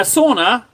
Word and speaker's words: sauna: Uh, sauna. Yeah, in Finnish it's sauna. That's how you say it. That's how it's said.